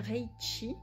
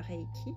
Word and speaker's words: Reiki: Pour être praticien Reichi et non pas Reiki, parce que le Chi, c'est l'énergie universelle.